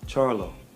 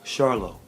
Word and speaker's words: Charlo: name it's actually Jamal Charla so don't say it like charcoal like the stuff you uh when you have a cookout the charcoal say it like Charlotte like the city in North Carolina so it's Jamal char